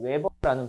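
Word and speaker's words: weber: 얘는 WB라고 해서 라지 W 스몰 b 쓰는데 웨버라는 발음을 써요.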